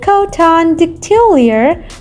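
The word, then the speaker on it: Coton de Tulear: it as heart wrapped in fur number five coton de tullier known as the royal dog of madagascar thanks to nobility's affection for the breed the charming and friendly cotton dictiliar pronounced is covered in a long profuse white coat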